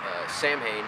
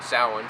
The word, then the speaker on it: Samhain: I mean I believe in Samhain or salan some people say however you want to pronounce it that's a the